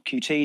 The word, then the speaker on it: Qt: curl and gstreamer and cute or QT depending on how you want to pronounce it uh chromium MPV and